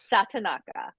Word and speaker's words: Satonaka: Satonaka.